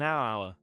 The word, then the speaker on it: hour: The letter H is silent in some words, so we use an. For example, an hour, an honest person.